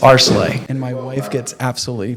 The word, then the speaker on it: Areclay: I get that question all the time it's aray and my wife gets absolutely pissed off when people mispronounce it but it's chopped up more often